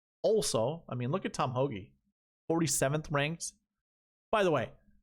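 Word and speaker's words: Tom Hoge: I mean, look at Tom Hoagie, 47th ranked. By the way, have any of you guys watched podcasts that call him Tom Hogue?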